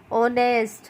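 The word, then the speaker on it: honest: इसीलिए हमने ऑनेस्ट के आगे भी एन लगाया बच्चों, क्योंकि एच क्या है? साइलेंट। होटेल, ऑनेस्ट, है ना, ये सब।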